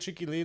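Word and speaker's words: Chiki Lean: It spells CHIKI Like LEAN. Like cheeky, and then lean, like lean.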